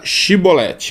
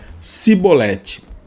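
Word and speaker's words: shibboleth: mostraria sua verdadeira identidade por sua incapacidade de pronunciar a palavra shiboleth corretamente dizendo ao invés disso outra palavra cebolete a diferença no dialeto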